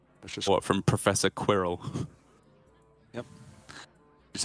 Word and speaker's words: Quirrell: Professor Squirrel. I was like, oh, so that's how you say squirrel. Blimey, Professor Quirrell, what are you doing? Professor Quirrell. One syllable.